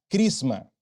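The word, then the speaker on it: χρῖσμα: en el idioma griego el sustantivo unción que aparece Allí se pronuncia crisma es antivo anticristo se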